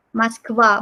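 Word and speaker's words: Москва: Moskva, bacanya Moskva.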